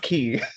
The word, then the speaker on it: quay: It's It's key, key. but it's pronounced key.